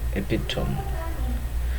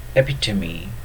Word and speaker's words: epitome: Words like resume, resume, and epitome are wrongly pronounced as resume and epitome, whereas the correct pronunciation are resume and epitome, respectively.